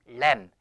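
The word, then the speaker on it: lamb: 해 보세요 래 요 b 는 발음이 나지 않아요 여기에서 알겠죠 내민다 1m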